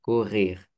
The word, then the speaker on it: courir: Oui aussi le mot euh le verbe, ça c'est difficile à prononcer. OK parce que il y a les R. Oui, vas-y, prononce-le pour voir. Courir. Courir. Oui, courir.